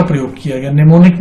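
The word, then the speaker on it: mnemonic: निमोनिक में मैं आपको बता दूं कि M साइलेंट होता है।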